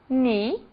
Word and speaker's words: knee: As letras G e K não são pronunciadas quando seguidas da letra N. Apenas o N é pronunciado. Então, nós temos agora alguns exemplos. Not, que é nó, knee, que é joelho.